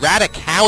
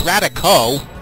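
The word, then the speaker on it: Raticate: 70 just a clarification someone tried to call that radical it's radico oh is in snow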